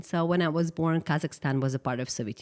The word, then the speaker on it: Kazakhstan: How do you pronounce that Yes. country? Kazakhstan.